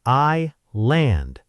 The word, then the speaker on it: island: The answer is i-land. That sneaky silent S strikes again.